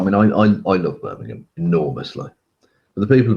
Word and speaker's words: Birmingham: for those who don't know it's Birmingham or Birmingham as it's properly pronounced rather than the wrongly uh pronounced one